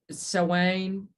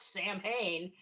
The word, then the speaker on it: Samhain: Because it's Samhain, not Samhain. Yeah. I knew it wasn't Sam Hain too.